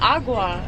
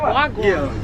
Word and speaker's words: wagwan: No, it's not agua. It's Yeah. wagwan.